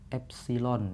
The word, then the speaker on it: epsilon: a a atau ya Ini bacanya adalah epsilon ya Hai nih berasal dari bahasa Yunani yang epsilon 000 sini